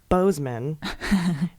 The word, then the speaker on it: Boozman: hip see in the senator Boozman is pronounced Bozeman and is pronounced Moran though I quite prefer a bluesman and Maura this reminds me of my childhood doctor whose name is dr.